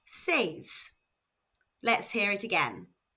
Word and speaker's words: seis: Six is s spelled S E I S and pronounced sees. Let's hear it again. Sees.